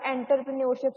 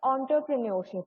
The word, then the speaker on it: entrepreneurship: then we have entrepreneurship, so do minded that this word is from French, so ਇਹਦੀ pronunciation ਨਾ different ਹੈ, ਤੁਸੀਂ ਇੱਥੇ ਜ਼ਿਆਦਾ entrepreneurship ਸੁਣਿਆ ਹੋਏਗਾ but that is incorrect, ਇਹਨੂੰ entre ਬੋਲਣਾ ਹੈ, entrepreneurship, ठीक है।